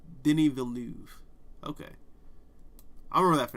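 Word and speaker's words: Denis Villeneuve: to be that prick pronounced uh Denny villain what' I say Dennis velinov something like that I don't know I'm an American um but like Denny venu okay or vnu no it's Denny vnu okay I'll remember that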